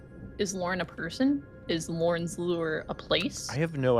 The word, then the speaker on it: Lorn's Lure: This is Lor's Lure. I will never say it correct on the first I don't think you said it right. Lorn's Lure.